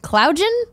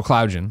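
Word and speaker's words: Cloudgine: cloud giant cloud gen cloud j'en AI think it's like engine so cloudian cloud gen that's a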